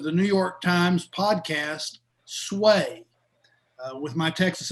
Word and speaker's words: Sway: the host of the New York Times podcast, Sway. With my Texas accent, I want to make sure that's S-W-A-Y for anybody that didn't understand what I Yes, it's sway.